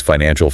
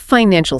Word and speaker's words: financial: The key here is syllable stress. The word financial has 3 distinct syllables, and the structural emphasis must land heavily on the second. Financial. Financial. Yes. If you swallow that middle syllable or rush past it, you sound unsure of your own core expertise.